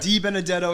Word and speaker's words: DiBenedetto: and we are here today with our friend saudi benedetto how you doing i say that right you said it right d benedetto it means uh of good words i think